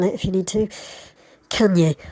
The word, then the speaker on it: Cagnes: Cagnes, I think, is more like the French pronunciation, like the singer that you might have your own opinion on with the overexposed girlfriend.